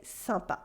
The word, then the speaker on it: sympa: super sampa super sampa samba is a word that is short for sympathic sympathetic that means friendly or likable some pathique but we say sampa coriocal french also resorts